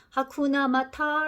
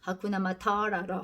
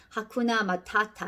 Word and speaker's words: Hakuna Matata: 마타타 하쿠나 마타타 자서 어떤 배우들은 이제 이게 영어로 하니까 하쿠나마타타 러 가 카와 튜바 림을 이렇게 알처럼 굴려서 아까운 아마 타러 하기도 하는데요 본래는 하쿠나마타타 안다 영어 스펠링 대로 하자면 하쿠나마타타 에요 근데 지금 무슨 뜻이야